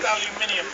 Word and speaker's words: aluminium: still can't a back you broke it like you did our language pronounced aluminium by the way that's the beach of